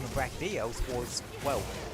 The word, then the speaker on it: Brachydios: Reminds me of when I found out that the pronunciation of Brachydios was, well, Brachydios.